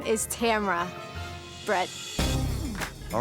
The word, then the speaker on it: Tamara: And the correct pronunciation of my name is Tamara Brett.